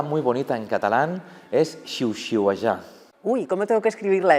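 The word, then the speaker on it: xiuxiuejar: ¿Y cómo se pronuncia? Xiu-xiuejar. Sihuella. No. Las primeras son sordas y la Ajá. última será sonora.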